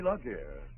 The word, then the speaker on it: la guerre: But you know, c'est la guerre.